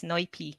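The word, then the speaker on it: Noypi: Did I pronounce it Noipi. correct? Yes, Noipi, Pinoy.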